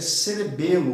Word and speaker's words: cerebelo: não é cerebel tá a pronúncia é cerebelo mesmo que não haja nenhuma acentuação gráfica e é cerebelo ok então encéfalo posterior